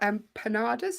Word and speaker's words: empanada: Enjoy your empanadas.